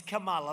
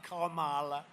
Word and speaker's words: Kamala: It's Kamala, like a comma, Kamala.